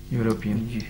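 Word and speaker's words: European: Start ई से हो रहा है, मगर प्रोनाउंस कर रहे हैं हम यूरोपियन।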